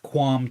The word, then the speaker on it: QAM: So the one one of those of course is um higher data rates with quam 2 that QAM we pronounce thatqam 10 uh 1024.